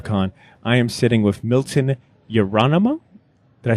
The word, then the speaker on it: Milton Yerolemou: I am sitting with Milton Yerolemou.